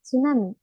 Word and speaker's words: tsunami: s en el medio pero la t sí se va a pronunciar por ejemplo en la palabra tsunami en la palabra tsunami la t sí se pronuncia vieron por ejemplo la